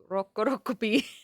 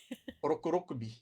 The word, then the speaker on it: Rokurokubi: Also, I And like the way you say rokurokuru rokurokupi. Rokurokubi.